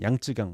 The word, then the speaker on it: 양쯔강: 요걸 장강이라고도 하고 양자강, 양쯔강 뭐 이렇게 발음하죠. 중국식으로는.